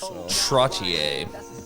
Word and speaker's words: Trottier: your last name properly trottier that's how we pronounce that yeah it's french canadian all right all right